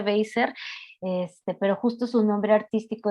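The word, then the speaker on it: Wasser: Ella es Joan Weiser o Weiser, se pronuncia Weiser, pero justo su nombre artístico desde hace varios años es Joan as a Police Woman.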